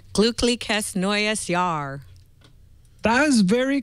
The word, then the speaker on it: glücklich: you know the word glücklich has two sounds in it that are really, really hard to That we don't pronounce do. for Americans. Yeah. So there's the U umlaut, which is Ü, and then there is the CH, which is so it's glückliches neues Jahr.